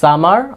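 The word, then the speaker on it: summer: যদি আপনি British pronunciation maintain করে বলতে চান তাহলে কি এই যে আপনার আরটাকে সাইলেন্ট করে দিতে হবে, কি বলতে হবে? সামা, সামা। আর যদি আপনি কি আরটাকে রেখে দিতে চান তাহলে রাখতে পারেন আমেরিকান সামার, সামার।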